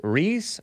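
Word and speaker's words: Ries: it's an article by julia rice reese r-i-e-s rhys is that spelled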